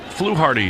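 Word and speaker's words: Fluharty: It says flu like a bird flu and then dash hardy like hearty voice. Okay. Flu Hardy doardo for in Boston.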